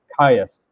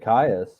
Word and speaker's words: Caius: Caius.